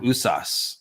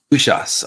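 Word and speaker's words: Uṣas: I think it's called Usas. Let me pull it up here real quick. The pronunciation right. Ushas. It's got an H in there.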